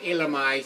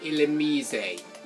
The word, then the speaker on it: Illumise: you say the name you don't say illumise you say is ill amazing and she's using a